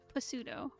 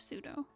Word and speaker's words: pseudo: hey captious uh like i've met so many people who say pasudo instead of pseudo i guess an epitome